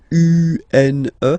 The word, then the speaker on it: une: Then the feminine article is here, and it's easier because if you have this U-N-E, then you pronounce it une.